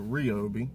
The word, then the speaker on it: Ryobi: Or Ryobi is how they pronounce it.